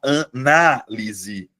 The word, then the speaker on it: análise: Já no caso do substantivo, você muda a tonicidade, você muda a posição da sílaba tônica, Luana, e transforma em substantivo. Analise, analise a análise.